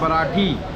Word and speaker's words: बराठी: बराठी actually जो सही pronunciation है वो है बराठी, जाओ विलेज से।